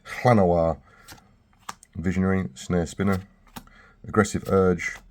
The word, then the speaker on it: Llanowar: Balefist Oak, Warden of the Woods, Nature's Way, Wall of Blossoms, Llanowar, I'm going with the Welsh pronunciation, Llanowar, Visionary, Snare Spinner, Aggressive